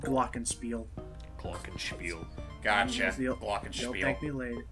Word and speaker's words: glockenspiel: for James just so James is aware for pronunciation it's called glockenspiel glockenspiel gosh a steel blockage thank me later